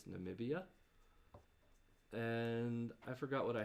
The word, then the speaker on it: Namibia: number of syllables because I thought it was nambia but it's Namibia and I forgot what